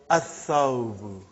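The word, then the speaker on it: الثَّوْبُ: So, brother, whenever there is a sun letter, you will not pronounce lam.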